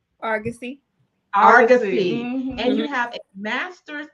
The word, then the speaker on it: Argosy: master's in Community Counseling from aragassi am I pronouncing that right Argosy and you have a